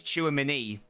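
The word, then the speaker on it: Tchouaméni: Chewie man chewy man I now know how to pronounce it by the way it is chew a mini it is allegedly a chew a mini I also it's true and many apparently it's too many hence enough to get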